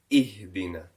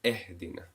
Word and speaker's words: ihdina: Remember, we said I, a sharp downward pronunciation rather than e. And we gave an example of ihdina instead of ehdina in Surah Al-Fatiha.